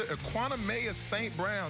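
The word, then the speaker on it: Equanimeous St. Brown: Kaiser to Equanimous St. Brown, 79 yards. Did I pronounce his name right after that?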